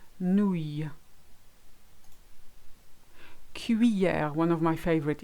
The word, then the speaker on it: cuillère: Cuillère, one of my favorite. It's notoriously awkward. Cuillère. So you've got two E sounds in there. You've got the cui and the Y of hier. Cuillère.